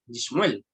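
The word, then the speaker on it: לשמואל: O sea, cambia la vocal de la preposición. Cambia de le a li. ¿Ya? Ahí se va a pronunciar Yishmuel.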